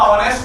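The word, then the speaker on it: honest: इन्होंने तुरंत फिर मुझे समझाया, बोले इसमें हॉनेस्ट नहीं होता, ऑनेस्ट होता है, साइलेंट होता है।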